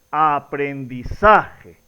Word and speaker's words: aprendizaje: Entonces nos damos cuenta que la pronunciación correcta es aprendizaje. La mayor fuerza de voz, por lo tanto, la sílaba tónica está ubicada en la sílaba sa.